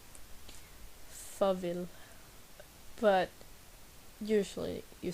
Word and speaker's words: farvel: Farvel. The A in farvel sounds like more like an O. Farvel.